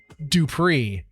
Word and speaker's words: Dupree: Tom, have you seen this new game called Dupree? That's how you pronounce it.